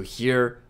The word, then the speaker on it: へ: He is pronounced like he in help or Helen.